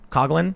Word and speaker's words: Coughlin: So instead of saying something like, they could say animator and comedian, Coughlin. Am I pronouncing it right? Yeah, Coughlin. You got it right.